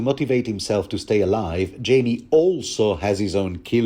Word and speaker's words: Jaime: anyway the next morning Jamie or should I say Heimer I mean it is spelled like the Spanish name haimer so why not Jango